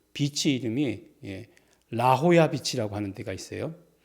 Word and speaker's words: 라호야: 샌디에고를 가다 보면 그 비치 이름이 라호야 비치라고 하는 데가 있어요. 근데 그거를 라호야 비치인데 영어로 표현하면 라졸라예요. J를 H로 읽잖아요.